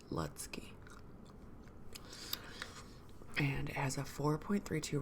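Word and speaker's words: Lutzke: talk about are by Chad letky I think that's how you say it l u t z k e letsky and it has a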